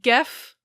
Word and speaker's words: Geoff: So we have Geoff, or Geoff (pronounced Geff), and Jones.